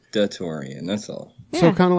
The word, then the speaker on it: DaTaurean: it de Torian it's it's supposed to be like the Taurus the Korean okay just da de Torian that's all so kind